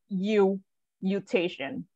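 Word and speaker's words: Eustachian: so it's mutation though so EU is like it's like Europe right so you mutation tube perfect all right so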